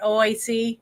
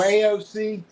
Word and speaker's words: AOC: Is it OAC? Is that how you say her name? The horse face girl, whatever her name is. AOC.